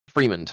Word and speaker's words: Fremond: Fremond, okay. I wasn't sure if it was a long E or a short E.